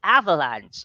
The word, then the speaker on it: avalanche: Okay, it's avalanche. Ayan, no, medyo maartisa, no? From the word Ay, as in VA, so VUH siya, no? Avalanche, parang ganun, no?